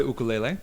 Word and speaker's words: ukulele: So I do know how to play ukulele, and Okay. I heard the way you said it, and I should start saying it that way. That's Ukulele, how it's pronounced. Ukulele, not ukulele.